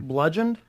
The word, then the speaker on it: bludgeoned: Bludgeoned? Bludgeon, Bludgeoned? yeah. Spell that.